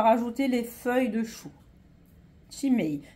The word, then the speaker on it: cima: Chimay. Chimay, ça s'écrit C-I-M-A.